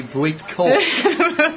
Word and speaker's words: Voytko: And the correct pronunciation of Kathy's name is Kathy Voytko.